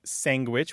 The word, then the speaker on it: sandwich: pronunciations of this word we say sandwich which is standard we say sangwich which you point out